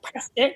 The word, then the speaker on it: Prescott: Yeah, so this is in Prescott, or Prescott, as the locals say.